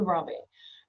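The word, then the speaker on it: Ranvier: So a French word so ramier not heard all sorts of different pronunciations but node ramier.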